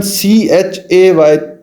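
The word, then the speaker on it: چ: अब हम इसको पढ़ने का तरीका या प्रोनाउंसिएशन ची चे या CHEY चे, तो इस तरीके से हम इसको पढ़ सकते हैं।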